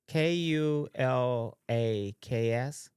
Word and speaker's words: kulaks: Yeah, And but their it, wealth, it says phonetically sounds out as KO though. Cool, yeah, it's KO.